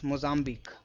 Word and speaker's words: Mozambique: This q u e is always pronounced as c the pitch rusk.